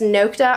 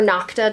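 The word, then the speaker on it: Nokta: I believe now it's just Noa or Nocta depending on how you pronounce it.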